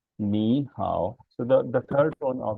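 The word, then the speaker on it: 你好: Okay, so this ni hao, it will become ni hao, ni hao. So the first tone, the tone of the first syllable, that is the third tone, will change into the second tone.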